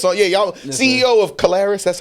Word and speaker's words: Caleres: Yeah, y'all CEO of Caleres.